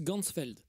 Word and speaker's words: Ganzfeld: Et en allemand, champ entier, ça se prononce Ganzfeld.